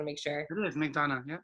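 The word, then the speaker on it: McDonogh: Am I pronouncing McDonough right? I just want to make sure. It is McDonough, yeah. McDonough, that's what I thought.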